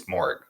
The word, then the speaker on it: Moehrig: I've heard people say Moehrig, and I've looked at it, and I honestly have to ask, where's the A? It's not spelled with an A, it's Moehrig, based on basic English.